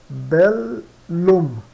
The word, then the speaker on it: bellum: Bellum, bellum, que é guerra, suena, ou seja, soa bellum, bellum, tá? Então quando tiver dois L se pronunciam em dois sons, tá? Em duas sílabas.